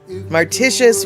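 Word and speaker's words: Mauritius: Mart marticious rhymes with vicious.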